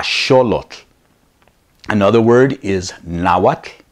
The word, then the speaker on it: Nahuatl: look another word is now what not Nahuatl another one I get